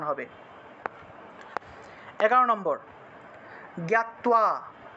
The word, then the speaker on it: জ্ঞাত্বা: 11 নম্বর জ্ঞাত্বা, তো দেখুন আমরা 11 নম্বরে এসেছিলাম। 11 নম্বর জ্ঞাত্বা, এখানে তো এর নিচে বফলা ছিল, সেজন্য তুও উচ্চারণ এসছে, ঠিক আছে।